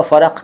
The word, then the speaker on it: फ़र्क: वैसे उर्दू भाषी भी ज़्यादातर यही उच्चारण करते हैं, फ़र्क।